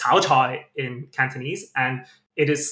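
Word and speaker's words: 炒菜: So, frying vegetables is pronounced cao chai in Cantonese, and it is slang for single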